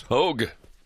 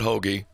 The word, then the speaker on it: Hogge: that good stuff all right we welcome Chris Hogue to the mic here Chris how are you